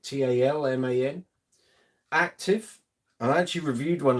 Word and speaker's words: Talman: This is an Ibanez Thomann. I think that's how you pronounce it. Talman.